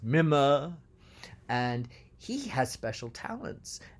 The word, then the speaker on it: Mime: albert has this brother which in english we call mime but in the opera he's pronounced mima and he has special